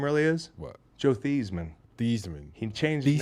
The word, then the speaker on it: Theismann: Joe Theismann. Thiesman. He changed his Thesis. name to rhyme with the Heisman, Wow.